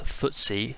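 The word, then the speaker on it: FTSE: six Swiss exchange ftsc the ftsc pronounced footy or the footy uh index tracks the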